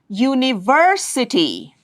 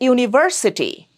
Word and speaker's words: university: University. You don't say university. Univers. No, it's university.